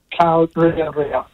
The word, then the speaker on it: Karearea: Karearea.